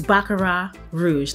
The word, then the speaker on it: Baccarat Rouge: Is Baccarat Rouge. The T is silent, okay? This is from France, okay?